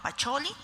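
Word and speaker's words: Pacioli: nos tuvieron que decir que se pronunciaba pacholi Pero sabemos que es Luca pacholi vemos una imagen y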